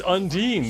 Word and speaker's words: Undine: Was it more difficult in pronouncing lesbian fish's name? It's Undine, the Undying.